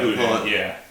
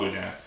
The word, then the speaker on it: boudin: So right now we have boudin, which is a sausage, and is that how you pronounce it? Yeah, boudin. Yeah, you call it boudin.